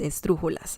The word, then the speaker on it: esdrújulas: Palabras agudas, palabras graves, palabras esdrújulas, okay? And I was saying that esdrújula, the word esdrújulas, is a esdrújula word because we have this syllable is the third to last one.